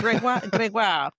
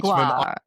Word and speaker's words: Gregoire: Say it right. You got I to know, get some well- of the French Canadian going, you know? Yeah. Gregoire. Yeah. As an Englishman, Gregoire.